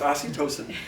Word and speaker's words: oxytocin: But no, it's oxytocin.